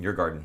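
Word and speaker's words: Djurgården: yeah, Yeargarden? Is that how you say it? Yeargarden.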